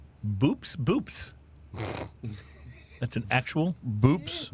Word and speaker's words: Boops: But our drunken fact for today, there is a fish with a scientific name boops.